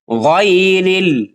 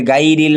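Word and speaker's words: غَيْرِ: এখানে আমরা গইন জবর গাই বলে থাকি, যে গাইরিল মাগদুবি। এরকম আমার মুসল্লিরা আছে যারা এই উচ্চারণ করে থাকে, গয়রিল এর জায়গায় গাইরিল বলে। এজন্য আমরা এই ভুলটাও কি করব না।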